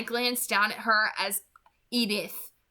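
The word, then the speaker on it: Edythe: Okay, I don't know how to pronounce that differently. It's Edith, obviously, so I'm just gonna continue pronouncing it, but I don't know. Like it's obviously pronounced the same way, but it's spelled differently,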